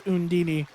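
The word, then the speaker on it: Undine: it or it's supposed the game pronounces the undini undini but it's spelled undyne okay sure sure gamecube game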